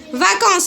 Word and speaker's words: vacances: vacances non on اس في الاخر ما كنقولوش لا اي. vacances هذيك اس ديال اش؟ ديال بلوريال. زيد vacances.